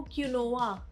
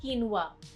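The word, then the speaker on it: quinoa: कीनुआ को क्यूनोवा भी बोल देते हैं कई बार, बट the correct pronunciation is कीनुआ।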